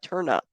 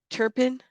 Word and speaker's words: Turpin: me that Vibe too is it turn pin turn pin not turn up turn pin did I say it correctly thank you Turpin Turpin Turpin all right thank you